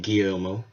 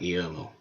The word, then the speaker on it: Guillermo: Let's make sure we pronounce his name, Guillermo, who, no, isn't a horror director.